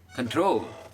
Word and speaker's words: control: Okay, next one is control. ओए कंट्रोल यार, क्या करता है? कोई कंट्रोल नहीं. Control. Control. See that? Control. Troll वाला जो है वो उठता है. 2 syllable है.